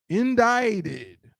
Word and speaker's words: indicted: In this word, it's this I is a long I sound. This C is silent.